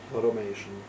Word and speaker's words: automation: Automation. Automatic. Okay, so remember AU are often like an O, so it's automatic and automation.